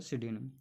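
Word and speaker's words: pseudonym: Piece में silent होता है सिडोनियम।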